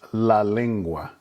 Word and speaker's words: la lengua: And you can hear the pronunciation as the vowels we've taught you before, the E that sounds like the E in wet, the U that sounds like the U in you or blue, and the A which sounds like the A in father.